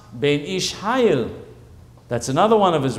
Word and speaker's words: Ben Ish Hai: It's pronounced Ben Ish Hayil.